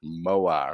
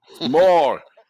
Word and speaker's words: Moar: Why do they over-pronunciate his name? Moar. Have you heard them say that? Moar. More.